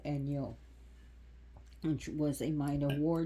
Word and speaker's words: Enyo: Like Enya, but take the A out and put an O, Enyo, which was a minor war deity and associated with the god Ares.